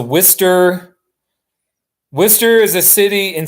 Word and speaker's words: Worcester: thing is I mean phonetically it should be war sester but I know it's it's not like that I sound like a stupid American or it's a Worcester Worcester is a city